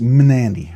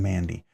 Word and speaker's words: Mnandi: the Chris Reeve Chris Reef knives Mandy it's pronounced Mandy so m n a n d i Dem Mandy right very very cool little knife I highly